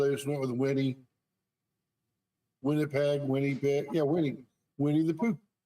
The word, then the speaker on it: Winnipeg: It's from Winnipeg, Ontario, maybe.